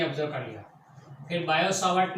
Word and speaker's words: Biot-Savart: फिर Biot सावर्ट ने लॉ दिया, बायो सावर्ट, खास ध्यान रखें ये टी साइलेंट है, उसे बोलने का नहीं, तो it's Biot सावर्ट, Biot सावर्ट ने लॉ